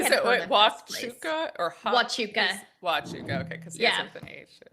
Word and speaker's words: Huachuca: Nobody had heard of Huachuca or Huachuca? Huachuca, okay, because he has with an H. Okay. Yeah, that's how it's spelled, but it's definitely.